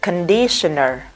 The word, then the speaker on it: conditioner: Thì chúng ta nhìn thấy tờ ion, nó là dấu hiệu của âm sh, và nó hay thường có dấu hiệu là sh. Thì chỗ đấy mình phải đọc là shin.